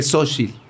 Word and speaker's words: Xochitl: Exacto, ya cuando nos veamos, cuando a Sho la invite, es que acá, es más bien si se pronuncia como So, es que Xochitl.